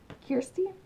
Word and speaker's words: Kirsty: For some reason, Kirsty, that's how you pronounce her name, people.